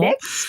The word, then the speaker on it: MEDx: Et alors justement, passons un peu alors à votre projet Medix ou Medex, je ne sais pas comment le prononcer correctement. Medex, absolument. Medex, alors.